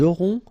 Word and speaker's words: auront: O and N together, nasal. On. A-U-O. Auront.